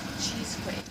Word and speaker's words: Cheesequake: And how do you pronounce it would be the first way. Um Cheesequake. Cheesequake.